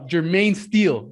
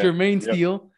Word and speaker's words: Jermaine Steele: and today i have i lost it uh jermaine steele right yeah that's how you pronounce it man you got it yeah i